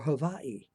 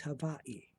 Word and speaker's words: Hawaii: Is it pronounced Hawaii or Hawaii?" And he looked at me and he smiled. He said, "Son, it is Hawaii. Hawaii."